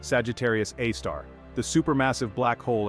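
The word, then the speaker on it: Sagittarius A*: giant Sagittarius A asterisk pronounced Sagittarius AAR the super massive black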